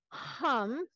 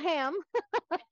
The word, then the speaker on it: ham: of the throat and the sound is hum not ham right you could have your yam noodles and ham and but you'd be really working chakra and throat your heart and your throat so it's a very aspirated at the back of the throat kind of not the